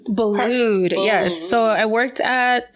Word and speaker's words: Boulud: And you worked with, how do you pronounce his name? Boulud.